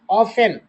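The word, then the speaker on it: often: वी ऑफेन ऑफेन में T silent है।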